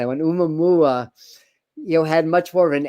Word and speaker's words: Oumuamua: Like Oumuamua, I always have trouble pronouncing that one. Oumuamua, had much more of an angular, and though